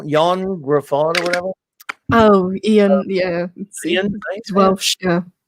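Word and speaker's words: Ioan: Oh, Ian.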